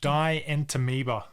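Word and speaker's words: Dientamoeba: Dientameoba.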